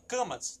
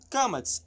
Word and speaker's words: Qamats: Sobre o Kamatz, que é essa letrinha aqui. É o nome dela, Kamatz, tá? Então o que aqui tem? Kamatz, A longo, este som é oco, tendendo para o.